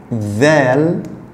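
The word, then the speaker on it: ذال: Vel. Il s'écrit comme le del, mais avec un point au-dessus. Le vel, c'est comme le mot anglais there. There.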